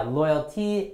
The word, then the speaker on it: loyal: But yeah, loyalty and loyal. Royalty and royal, right? So you gotta really stress the first sound. L, loyal. R, royal.